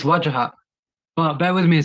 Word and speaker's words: Wajahat: It's Wajahat. Just how it's written.